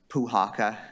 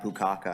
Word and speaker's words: Puhaka: all my last name everyone gets it wrong puhaka if you want to remember for the future I I've have uh puka and pukaka and all sorts of